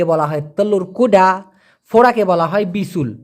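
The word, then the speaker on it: bisul: তেমান ঘোড়ার ডিমকে বলা হয় ফোরাকে বলা হয় বিসুল বি আই এস ইউ এল উচ্চারণটা হবে বিসুল বিসুল মানে ফোরা দেখুন এই পালিং শব্দ দিয়ে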